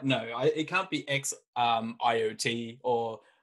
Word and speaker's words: XIOT: So the way that I pronounce it, and the way that I feel it's supposed to be pronounced, is it is Xiotri, and yeah. Our first token is Xiot, and the second token is a bXIOT. Yes. Okay, so I am correct in Xiot.